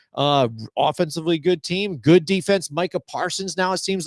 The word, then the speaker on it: Micah Parsons: Yeah, Micah Parsons Micah Parsons.